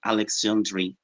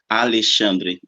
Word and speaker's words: Alessandri: yes yes I think it's more beautiful when people call me Alexandri Alexandri much better than Alex chandri the real pronunciation okay you can choose